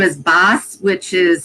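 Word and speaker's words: Bás: And death actually, his name is Baes, which is spelled B-A-S with a little thing over the A, which means death in Gaelic, actually.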